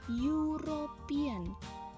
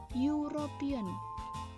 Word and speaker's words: European: Tulisannya memang E, ya. Tapi ternyata ini dibacanya European. European. Yang tadinya huruf awalnya E berubah menjadi huruf awalnya Y. Maka walaupun dia di sini